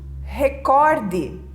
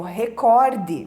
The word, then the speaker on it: recorde: o correto é Nobel também temos o recorde é palavra paroxítona erradamente pronunciada como uma proparoxítona pessoas dizem Record é é um recorde nós temos também a